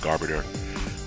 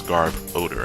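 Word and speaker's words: Garbodor: to always call it garbage but it's garb odor as if being cloaked or or you're wearing clothes that have a bad odor whatever not my not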